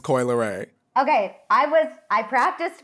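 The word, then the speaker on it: Coi Leray: to make sure I'm saying it's Coy it's Coy lay okay I was I practiced before but I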